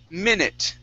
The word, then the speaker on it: minute: Next up, we have the word minute. Okay, this is a short I sound. Instead of minute, it's minute.